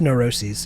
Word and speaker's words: neuroses: who you are no it's pronounced neuroses in that context i'm pretty sure neuroses neurosis is a